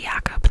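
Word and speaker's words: Jakob: she encounters Jack Jacob sometimes when it's spelled like that it's pronounced yob so I don't know but it's it's properly yakob knowing that it's like um German uh Shing Jacob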